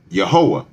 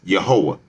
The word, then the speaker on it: Yehowah: So God's true name would be this right here, Yehowah. Or you could either use the E or the A in the beginning, but the way to pronounce the Tetragrammaton, the YHWH, is Yehowah.